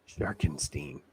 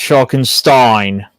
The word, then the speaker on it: Sharkenstein: And yeah, Sharkenstein, not Sharkenstein. It's pronounced Sharkenstein.